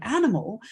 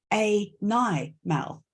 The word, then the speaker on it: animal: analysis of the word animal then you would have to say to students you'd have to explain to them twice why this is not a nigh Mal right okay a normal right